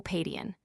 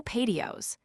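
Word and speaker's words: paidion: O Padian. By a slip in pronunciation ended with the s instead of the n and said o paddios.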